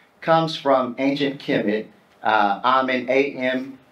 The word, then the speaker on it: Amen: from ancient kimid uh amen am n uh which we now say at the end of most of our prayers if we're Christians we kind of pronounce it differently uh but ammen uh anciently meant the